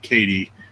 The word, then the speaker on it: Caddy: It's pronounced like Katie.